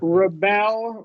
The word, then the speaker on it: rebel: rebel, right, we are going to make the vowel sound. And that goes to the syllable stress.